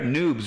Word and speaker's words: Noobs: Noobs rhymes with boobs.